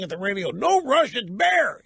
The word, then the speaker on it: Bexar: this County in Texas Bexar and it's bear the it's Spanish the X is silent in Spanish I should have known